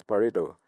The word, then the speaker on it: Pareto: O nome da empresa dele, dessa startup, é Pareto, que eles pronunciam em inglês Pareto.